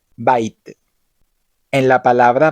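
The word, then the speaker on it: בית: Por ejemplo, en la palabra Bait, que significa casa, Bet se pronuncia como una B con sonido fuerte, Bait.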